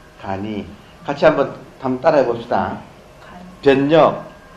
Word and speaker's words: 간이: 그래서 변하는 세계와 변하지 않는 세계를 알게 되면, 변력과 불력을 알게 되면 그 사람의 삶은 간단할 간자, 이때는 같은 글자를 역을 써도 발음은 역이라고 하지 않고 이라고 합니다. 간이.